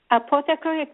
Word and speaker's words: apothecary: What is apothecary? It's a store that sells herbal medicines. Oh, it's the name of a store. Okay. Apothecary. Did I pronounce it correctly?